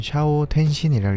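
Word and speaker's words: 斜陽転身: 일본어로는 샤오 텐신이라고 읽습니다.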